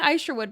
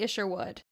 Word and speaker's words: Isherwood: entire time charles and i've been saying i sure would but it's actually issue wood so my apologies charles